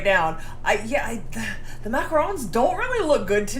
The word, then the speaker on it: macaron: know the difference but macaron macron you say it like French macaron uh with one o